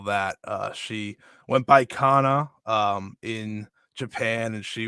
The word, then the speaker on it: Kana: on social media is Kana was it Kana is that how they pronounced it yeah oh she it's Kana and I was like